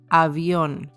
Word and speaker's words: avión: apple a Apple so it's important that your mouth is open and that you're raising a bit your cheeks so you can open to the sides also so A A as in Avion which means plane the